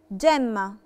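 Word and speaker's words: gemma: جمة، جمة يعني جوهرة، نطقتها جي دولتشي، جي دولتشي عشان وراها لا لتر اي، لا فوكال اي، فبقت جمة.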